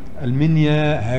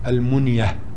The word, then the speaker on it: المنيا: نعم، أصل المنيا، المنيا هكذا اسم ليس صحيحا نطقها على هذه الصورة، إنما النطق الصحيح لها المنية أو منية بن خصيب.